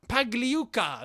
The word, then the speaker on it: Pagliuca: there we are so boli pagliwa pagli pagliuca pagliuca there we are seaman see so todd bowley